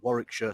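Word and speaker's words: Warwickshire: city was split between three counties, those being Warikshire, Staferture, and Worersha. And yes, for any Americans watching, that is how you pronounce those place names.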